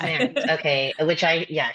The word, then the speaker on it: Maerz: Everyone mispronounces it, even people I've known for years. So, it's okay. It's Merits. But you were very Merits. Merits. It's Merits.